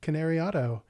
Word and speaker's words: Cannariato: I just think about Canary and Auto like you taught me and it works.